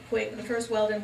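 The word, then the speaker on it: Weldin: Weldon, but interestingly enough, they're all pronounced the same. They're all pronounced Weldon, and we spell our name W-E-L-D-I-N, and it's been that way for 300 years in this area. So the first Weldon was Isaac Weldon, who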